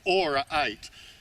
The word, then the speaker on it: Aura 8: Now, I've been calling it a different name, but I was pronouncing it wrong. It's Aura 8.